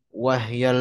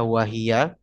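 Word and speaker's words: وَهْيَ: Lil maddi ahkamun thalathatun tadum wahyal wujubu wal jawazu wal luzum. Bacanya wahya ya. Perhatikan bait ke-42, jangan dibaca wahia karena lagi-lagi alasannya daruratus syi'ri, menimbang pola syair yang berkaitan dengannya.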